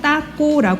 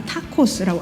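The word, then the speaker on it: taco: 그리고이 옆에 보시는이 음식네 스페인어로는 따꼬 하지만 이것은네 여러분들 아마 타코스고 알고 계시는 바로 그 음식입니다 멕시코에서는 하얀색 그 밀가루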